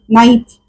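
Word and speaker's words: knife: असं नाही म्हणत आपण तो क चा उच्चार होत नाही तर उच्चार कुठून सुरू करतो आपण नाईफ एन पासून सुरू करतो आणि म्हणून ते हे अक्षर असत सायलेंट असं जर मी म्हटलं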